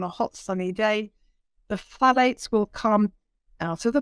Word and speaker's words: phthalates: Because that's full of a substance no one can pronounce. It's phthalates, P-H-T-H-A-L-A-T-E-S.